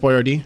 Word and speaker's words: Boyardee: Chef Boyardee, real person.